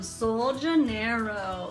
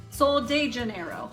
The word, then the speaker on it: Sol de Janeiro: Bum Bum Cream from Sol Janeiro. Like, I think that's how you say it. Sol de Janeiro, like Rio de Janeiro, duh.